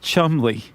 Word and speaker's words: Cholmondeley: Charles Cholmondeley, pronounced Chumley.